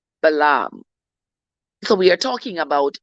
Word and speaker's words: Balaam: I know that a lot of people would say the word Balaam and say Balaam, but I pronounce it Balaam.